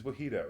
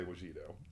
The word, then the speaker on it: Wajito: Wait, his name's Wajito. It's Wajito. It's like mojito. No, it's not. It's I asked him the last time I was here. He said it's Wajito, but Matt doesn't know how to pronounce it, so I just let him say Wajito. Wait, have I been wrong this entire time? It's not Wajito?